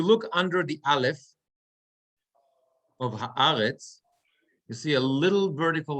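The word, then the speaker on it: הארץ: So if I'm looking at the last word, haaretz, where the accent is going to be, I have ha-ha-retz. I have three syllables, ha-ha-retz. So is it going to be haaretz or is it going to be haaretz?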